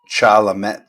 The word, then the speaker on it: Chalamet: Had to get that off my I think his last name is pronounced Chalamet, though. Chalamet. He actually was talking on Graham Norton's show once about his name. Like everybody calls him Timothy, but he is of French descent.